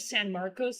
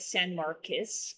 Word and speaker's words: San Marcos: I I'm just And then people are like instead of San Marcos, they're like San Marcus.